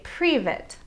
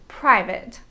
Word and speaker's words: private: for example instead of saying private they say privet but the correct pronunciation is private also many english learners tend to get confused with the numbers 15 and 50.